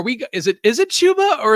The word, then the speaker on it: Chuba: is it chuba or is it chubba it's chuba i i was corrected early on in the uh this off season because i always said chubba but it's chuba really i guess because it is spelled like tuba so i guess it